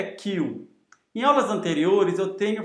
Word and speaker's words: Queue: Aqui a gente tem uma classe Q, e essa classe Q, só para vocês saberem, a pronúncia correta dessa palavra aqui é Q. Em aulas anteriores eu tenho falado query ou query, assim como em query e dequery,